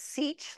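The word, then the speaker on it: sech: e to xus eus X hyperbolic secant we'll pronounce as sich like C and then a CH sound at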